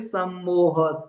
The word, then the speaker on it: सम्मोह: So I am just going to tell you what are this krodhat bhavati sammoha. Sa means it is come, the teeth, tongue will touch the teeth. Sammoha.